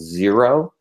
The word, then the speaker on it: Xero: great great product called zero that's spelled xero not z o uh it's out of